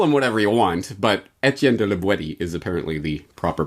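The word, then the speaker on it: Étienne de La Boétie: with this call them whatever you want but etienne de libweti is apparently the proper pronunciation terrific let's now that we know the author's name let's get into the content starting on page 42.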